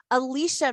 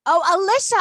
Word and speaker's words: Alisha: we have lucas milin alicia mcadoo girl alisha i'm so sorry all this time i've been saying it wrong in my head everybody